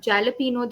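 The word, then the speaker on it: jalapeño: you have the topping which people mostly call jalapeno uh would you like to pronounce that is jalapeno the correct pronunciation another new word for me okay jalop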